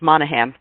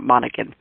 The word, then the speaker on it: Monaghan: me just think of that G in the middle of my name is silent so it's Monaghan not Monacan I want to invite